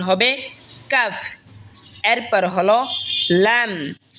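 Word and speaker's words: لام: এরপর হলো লাম, লাম জিহ্বার আগার কিনারা সামনের ওপরের মারির দাঁতের সঙ্গে লাগা উচ্চারণ হবে লাম।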